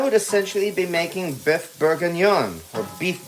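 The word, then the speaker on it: bourguignon: wine here, I would essentially be making Beth Bergen or beef bergen. Bergen. There we go. That's how it's pronounced.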